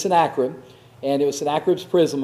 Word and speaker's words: Sennacherib: the king of Judah, that Sennacherib, and that's how you pronounce it. I'm sorry, and I even have trouble remembering it. Sennacherib or Sennacherib? It's Sennacherib. It's always Sennacherib. If I ever say Sennacherib again, just raise your hand.